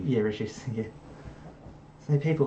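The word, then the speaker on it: Reshevsky: Like there was like Paul Morphy, Sammy Rish, I can't pronounce his last name. Rishevsky. Yeah, Rishevsky.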